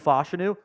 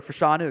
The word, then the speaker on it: Fashanu: the board before Olu fashanu or fashanu excuse me I realized we've been pronouncing his name wrong the whole time when he said it correctly himself at his combine uh fashanu goes number